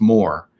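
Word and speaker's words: Maurer: the artist Norman More I believe his his name is pronounced Moore because he was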